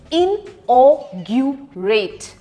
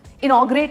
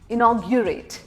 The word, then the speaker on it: inaugurate: इनॉग्रेशन नहीं होता है, INAUGURATE, इनऑग्यूरेट, इनऑग्यूरेट। अब इसको कंबाइन करके बोलना है, इनॉग्रेट नहीं, इनॉग्यूरेट, ग्यू, दैट्स द ट्रिक।